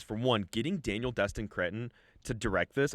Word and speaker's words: Cretton: one, getting Daniel Destin Cretton to direct this. I think that's how you say his name. Yes. Daniel Destin No, you Cretton? said it right. Is it Cretton? You said it.